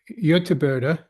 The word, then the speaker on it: Göteborg: Barbara Ekdahl from Göteborg, that's how you pronounce it.